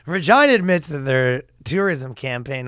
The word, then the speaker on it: Regina: 10 year old experienced Regina tried to tap into some of the more a unsavory attempts at humor namely the fact that it rhymes with vagina whereas vaginas are no